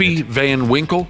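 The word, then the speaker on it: Pappy Van Winkle: always get pissed off when they can't get papy Van Winkle that's how you say it all right fair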